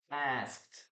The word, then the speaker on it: asked: Well, it is because we have three consonants here.